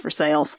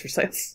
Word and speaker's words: Versailles: Yes, it's actually pronounced Versailles. It's actually, It's actually pronounced Versailles.